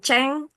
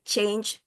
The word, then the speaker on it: change: And then when you say change, ada i-nya di situ, bukan ceng, tapi change, bukan ceng ya, change, ada i-nya. And then answer, you don't